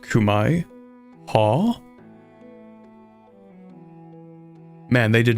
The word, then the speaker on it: Khmer: And remember, Khmer is pronounced Kumai.